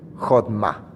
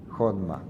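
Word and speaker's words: חכמה: Jodma. Jodma.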